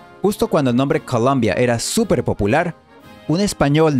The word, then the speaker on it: Columbia: El nombre original en inglés se pronuncia Colombia.